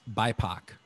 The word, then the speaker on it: BIPOC: It popped up, and it's BIPOC, which rhymes with Tupac.